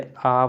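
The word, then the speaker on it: hour: हैं', क्योंकि देखिए, 'घंटा' H-O-U-R है, इसे 'haur' नहीं बल्कि 'aur' पढ़ा जाता है, जिसका अर्थ है कि इसका उच्चारण 'aa' से शुरू होता है।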